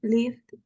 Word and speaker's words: lived: Okay, la pronunciación aquí es, al final, tú pronuncias la D.